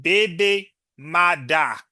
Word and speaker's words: baby mother: The term originated in Jamaican Creole as baby mother, pronounced baby mada.